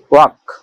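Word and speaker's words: walk: ওয়াক, ডব্লিউএলকে, ওয়াক, ওয়াক মানে হাঁটা।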